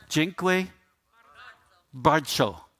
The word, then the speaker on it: dziękuję bardzo: thank you, and you'll have to help me pronounce it correctly. How do I say that? Dziękuję bardzo.